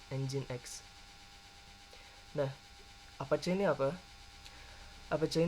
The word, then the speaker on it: Nginx: Bukan Nginx ya, dibacanya Nginx.